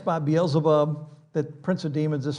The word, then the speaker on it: Beelzebub: We talked about this last time, that actually the word is Beelzebub, which is, it's Beelzebub.